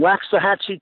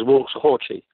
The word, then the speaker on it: Waxahachie: Down in Waxahachie, Texas, which most people pronounce as Waxahachie.